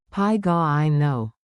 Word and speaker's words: πηγαίνω: Pronunciation beat. Tap the rhythm with me, your mouth likes music. Pi ga I know.